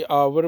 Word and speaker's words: hour: HOUR, इसको हावर नहीं बोलना बल्कि आवर बोलना है, H को साइलेंट करना है।